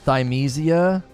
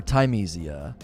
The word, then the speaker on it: Thymesia: pronounced thimesia or tymesia i mean i'm pronouncing it like time like the herb like if you put time in a meal like if you're if you're cooking something that's how it's spelled t-h-y-m-e tamezia i believe that's how it's pronounced i didn't think sakira